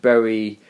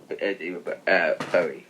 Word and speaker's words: Bowie: Tom, we are a fan of Bowie. Yes, we are. Am I saying it right? Yeah, it's Bowie. Messed up his name. It's Bowie. Is it Bowie? A lot of people say Bowie, but it's Bowie.